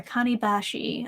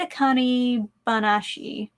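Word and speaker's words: Akane-banashi: read Sakamoto days or akani Bashi I've read a Connie banashi I know I said it wrong the first time I always say things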